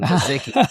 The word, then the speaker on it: Kozicki: I'm doing great, and I'm glad to finally get a clear pronunciation of your last name, Kasica.